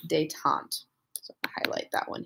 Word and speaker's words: détente: is a policy called détente. So I'll highlight that one here as well. I know it looks like détente, but it is French. It is pronounced détente.